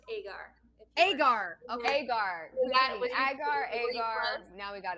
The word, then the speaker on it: Agar: you for having me we're so excited it's pronounced agar agar okay now we got it down i